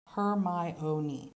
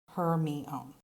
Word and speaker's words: Hermione: hermione and harry potter it's her my own not her me own remember to occasionally review